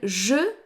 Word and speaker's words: j': or a mute H, then je becomes J apostrophe, which is pronounced j.